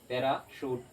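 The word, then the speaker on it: parachute: जैसे पैरासूट, CH को क्या पढ़े श, पैराशूट।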